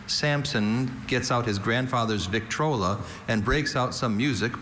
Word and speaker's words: Victrola: Vital, your word is Victrola. Victrola? Victrola. May I have all the information? Victrola is the only pronunciation for this trademark.